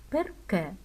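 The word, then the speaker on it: perché: Перке. Слово перке в італійській мові може перекладатися як чому, так і тому, що у даному випадку тому, що зверніть увагу на останню е під наголосом і напрямок діакритичного знаку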